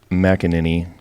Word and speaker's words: McAneny: in the studio we are speaking with mckinin got that right right that's right perfect it's not an easy one to pronounce no it's not so uh keeping on